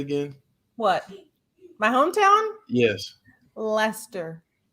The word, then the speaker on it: Leicester: Leicester. Leicester.